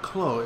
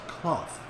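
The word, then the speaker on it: Clough: of the net and actually it's not Chloe it's cloth so I'll try to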